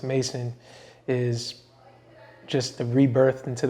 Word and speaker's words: M11SON: So the M11SON, pronounced Mason, is just the rebirth into the world and introducing myself as a creative and not just some regular person.